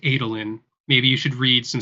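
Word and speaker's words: Adolin: we feeling guys uh first of all it's pronounced adelin maybe you should read some Stormlight Archives okay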